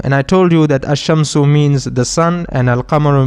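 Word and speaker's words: الشمس: Remember we studied about ashamsu and alamaru and I told you that ashamsu means the sun and alamaru means the moon. In ashamsu we do not pronounce the lam and in al kamaru we do pronounce the lamb.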